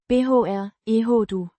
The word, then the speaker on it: beærede: Means honored or privileged. Pronounced. beh-air-eh-duh.